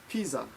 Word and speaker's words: pizza: pizza is I'm sorry in Japanese pizza is pronounced Pisa like this okay whoops can